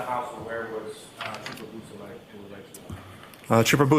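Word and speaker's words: Beausoleil: Could you say that name again and spell it for us, Yes, please? sir. It's Trooper Jason Bousselet.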